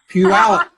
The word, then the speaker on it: Puyallup: Is it Puyallup? Puyallup? Puyallup.